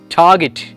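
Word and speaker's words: target: The correct pronunciation is ടാർഗറ്റ്, ടാർഗറ്റ്, ടാർഗറ്റ്, ടാർഗറ്റ്, ടാർഗറ്റ്. ദ ആ will be silent because we ആർ following the British English.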